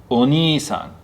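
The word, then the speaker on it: お兄さん: This is a long E sound, so it's o-ni-i-sa-n. Oni-san, older brother.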